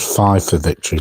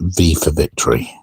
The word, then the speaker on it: V for Victory: Because, funnily, Guy from Wargaming Soldier and Strategy said 5 for Victory, but I'm fairly sure it's meant to be pronounced V for Victory.